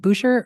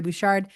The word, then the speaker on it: Bouchard: Is it Boucher or Bouchard with a D? There we go. Lori Bouchard, as the consultant to help us run the surveys this year.